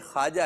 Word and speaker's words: ख्वाजा: सही तलफ क्या वैसे लिखने में तो खवाजा लिखा जाएगा लेकिन पढ़ने में वाव साइलेंट करेंगे ख्वाजा पढ़ेंगे आप तो पढ़ने के और हैं अल्फाज और लिखने के अल्फाज और हैं ये वाव साइलेंट है तो ये पढ़ा नहीं जाएगा तो ख्वाजा गरीब नवाज